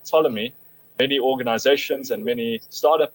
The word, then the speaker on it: Ptolemy: It's a concept called the Ptolemy trap. It's a silent P, so it's spelled Ptolemy.